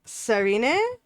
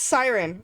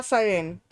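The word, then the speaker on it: Sirène: And it is published by Serine. I know I'm mispronouncing that. Like all hell. It is. Oh, it's Siren. La Siren.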